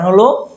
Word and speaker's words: who: আচ্ছা কিন্তু ব্যতিক্রম একটু আছে যেমন এইগুলোও কিন্তু ডাবলিউ এর পরে এইচ আছে ডবলি এর পরে এই আছে দেখো যেমন হু হুম হু হোল ওয়ার্ল্ড আচ্ছা হু আর ইউ